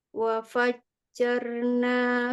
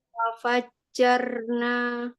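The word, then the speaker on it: وَفَجَّرْنَا: Enggak, jangan ditasydidkan ro-nya. Fathah saja ja sama ro. Jaro. Gimana Ustazah? Ini Ukhti Rahayu, ya, bacanya jangan jarro, jangan jarro. Ikutin saya aja. Jaro. Ya, jaro. Jarona. Jarna. Ya, janya buka fathah. Jarona. Tapi ro-nya ditebalkan ya.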